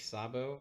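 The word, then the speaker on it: Szabo: a paper by Nick Sabo that's Nick slabo Sabo is spelled s-z-a-b-o um he wrote a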